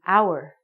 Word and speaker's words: hour: It sounds like we're saying hour. So, because this word hour sounds like a vowel, because the H is silent, we have to say an hour.